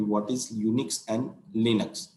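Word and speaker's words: UNIX: यहाँ पे इसका एक्चुअल प्रोनाउन ये होता है यूनिक्स, UNICH।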